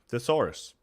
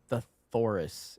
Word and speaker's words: thesaurus: Theorus. Yeah, thesaurus. No, you said theorus. It's thesaurus. I said it quickly.